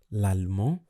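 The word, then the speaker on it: allemand: i pronounce that okay so in french generally if a word ends in a consonant you don't pronounce it however if a vowel comes after that consonant then you pronounce that consonant okay that's why we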